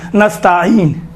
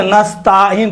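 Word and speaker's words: نستعين: ایاک نستعین، دیکھیں تا کے اوپر الف نہیں ہے، یہ چھوٹے حرکات میں سے ہے، زبر بڑا حرکات نہیں ہے کہ نستعین تلفظ کریں۔ اکثر و بیشتر تلفظ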